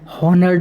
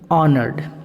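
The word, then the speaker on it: honoured: उसके बाद सम्मानित, ऑनर्ड, इसको ओ से पढ़ा जाता है, एज का एज यहाँ पे साइलेंट रहता है, हॉनर्ड नहीं पढ़ेंगे, ऑनर्ड।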